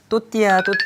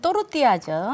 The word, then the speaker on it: 또르띠아: 우리가 또르띠아라고 정확히 명칭하지 않고 그냥 제가 알고 있기로는 또띠아 그러거든요. 맞죠? 네, 원래는 또르띠아죠.